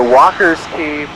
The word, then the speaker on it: Walker's Cay: where we're headed um we're currently headed to Walker's ke Bahamas and I only recently today learned that it's actually pronounced Walker P despite being spelled Walker K